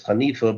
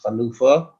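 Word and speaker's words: חנופה: Chanufa is often somewhat mispronounced as Hanifa, but the real correct pronunciation word is Chanufa.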